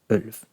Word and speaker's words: ulv: Ulv. Ulv. Let's make that more V-ish.